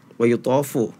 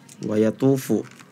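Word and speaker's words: وَيَطُوفُ: Tadi pas wayutofu ya, tadi dibacanya wayatufu. Nah itu harus diperhatikan pula.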